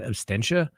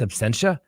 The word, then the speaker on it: absentia: And yes, I could have swore the other day I said absentia. Some people said I said abstentia. It's absentia.